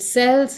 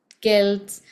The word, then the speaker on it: Celts: the Kelts were now this word is often uh confusing in pronunciation right from the start is it sells is it KS so um both are okay in certain places like uh sports teams uh you will use Celtics but in um common